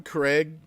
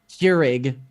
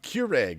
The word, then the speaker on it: Keurig: up I have a Craig and it's got you have a Craig however the hell you pronounce it is that like the equate compare with Keurig how do you pronounce it Keurig Keurig okay fine I've got